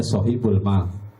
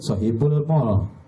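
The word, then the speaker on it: صاحب المال: shahibul Ma ada tulisannya sohibul Ma jangan disebut shhibul Mall beda kalau Mall l-nya dua kalau Mal a-nya dua jadi salah pengucapan beda nanti sohibul m ya sohibul ma orang yang memiliki harta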